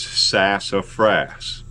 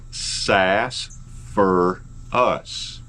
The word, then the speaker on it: sassafras: of the wood is sassafras it's pronounced like it's spelled however if you're talking to an old-timer you don't call it sassafras call it sass for us sosphorus as a matter